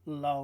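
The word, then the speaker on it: לא: third person singular masculine, but I also gave you lo, which sounds exactly the same, but it's spelt slightly different.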